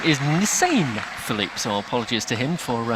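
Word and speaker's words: Njisane Phillip: who's just taking the victoria's first name is nissan philippe so apologies to him for uh mispronouncing it nissan philippe is the way the name is pronounced so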